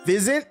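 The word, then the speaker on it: Physint: Fizzant. It's It's pronounced fizzant.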